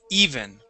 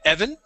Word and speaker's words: even: over okay first off this word is even okay so not uh you would said Evan okay the word is